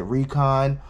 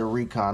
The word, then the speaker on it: Reekon: um so this is I'm gonna call it Recon I'm from Philly where we speak phonetically um you know we say we spelled almost like Reebok uh which is kind